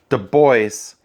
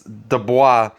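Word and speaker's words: Du Bois: from a couple different sources that he would pronounce his last name two boys so that's how I'm gonna pronounce it the way he pronounced it however I know it does look like it's Dubois but we'll just pronounce it the way he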